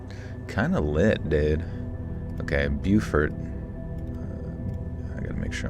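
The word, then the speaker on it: Beaufort: It could be Bowfort. It could be Buford. It is Buford in America. I'm just going to go with Buford since that seems to be the American pronunciation.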